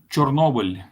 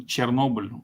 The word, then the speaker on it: Chernobyl: In Ukrainian, Chernobyl. In Russian, Chernobyl. Almost the same.